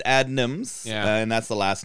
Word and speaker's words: Adnams: When I first thought, I thought it was Adams. I don't know. It's Adnams.